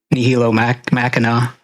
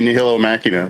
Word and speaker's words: Nihilo Machina: So it's funny that he asked me to interview Nihilo Machina.